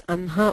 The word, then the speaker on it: अह्न: Why it is pronounced as Anha while it is written as Ahna.